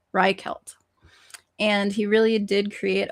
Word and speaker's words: Reichelt: The tailor was friends I had I had the pronunciation, hang on. Reichelt. Reichelt.